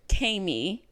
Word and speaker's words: Kami: One of them is from a listener named Kami. Okay. It's just pronounced like Amy with a K.